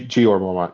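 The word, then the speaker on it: Jeor Mormont: the Lord commander of the knights watch sir gor Mormont I think is how you say it g gor Mormont yep yep who actually we find out later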